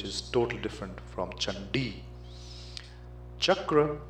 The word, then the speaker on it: chakra: totally different from chandi Chakra becomes kakra gacha becomes gacha chhatra becomes chatra all of them wrong the second source of